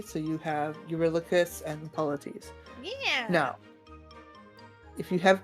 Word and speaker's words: Polites: And then Polites is just like basically how they pronounced polite with an S at the end. Polites, polites.